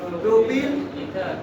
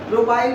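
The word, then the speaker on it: propyl: Very good, इसका नाम होगा डाई प्रोपिल ईथर। प्रोपाइल भी बोल सकते हैं, प्रोनाउंसिएशन क्या है आप लोग देख लीजिए, प्रोपाइल ईथर।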